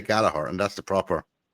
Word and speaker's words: Gallagher: That's the way we say silent silent second G.